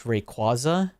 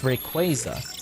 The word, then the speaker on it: Rayquaza: that was correct was the way I pronounced Rayquaza. A lot of people were apparently pronounced as Rayquaza. Nuh-uh. That doesn't make sense. It sounds disgusting. It's Rayquaza.